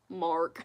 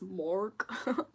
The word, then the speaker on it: Mark: It's because the English pronunciation is Mark. But yeah, I'm not gonna watch Boys Planet, I'm sorry. They gotta know Mork instead of Maku by now.